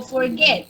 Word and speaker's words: forget: la fuerza de voz va en la última sílaba por ejemplo el verbo forget el verbo forget si tengo esa es esa palabra y ese